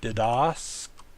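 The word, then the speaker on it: διδασκόμεθα: We have the ultima theta alpha, makes a th sound. That's the ultima. The penult is the meh, mu epsilon, meh.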